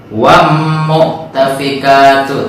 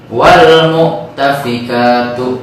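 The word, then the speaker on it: والمؤتفكات: Maka kita jangan membacanya wam mu'tafikatu, tapi wal mu'tafikatu. Wal alnya terdengar dengan jelas.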